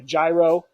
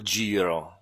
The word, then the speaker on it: Giro: Some people call it the Gyro. Those are probably the same people who call Moto Guzzi's Moto Guzzi's, but we're not going to. We still love you. But we have an expert here, so maybe Sam can tell us exactly how do you say it. Moto Giro, grazie.